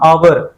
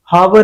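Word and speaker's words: hour: करेंगे हम ठीक है इसके जैसे साइलेंट एच है जहां आवर हावर नहीं होता आवर आवर mean oh यू आर आवर इसमें एच की वॉइस जो है वो साउंड जो है साइलेंट है तो इसलिए इसके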